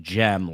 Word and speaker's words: Cem: Uh, so this guy's name is Sem Mutlu, but it's pronounced gem, like a like a gemstone, and it's spelled either way.